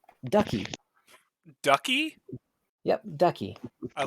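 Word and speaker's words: Duchie: okay it is the town of uh ducky ducky yup ducky i like this place town of ducky or the city of ducky um it is spelt with a uh it's d-u-c-h-i-e douchey i'm gonna like walk around just calling it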